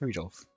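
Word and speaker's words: Rudolf: it's just that anyway this guy's name is pronounced rudolph haha he must hate grandfather for giving him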